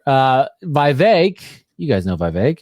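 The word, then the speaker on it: Vivek: VI you guys know Vive rhymes with cake uh he has he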